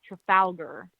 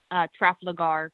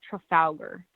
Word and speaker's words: Trafalgar: actually found out it's pronounced Trafalgar. Okay. Yeah. I used to call it Trafalgar because I didn't know how to pronounce it, but it's apparently Trafalgar.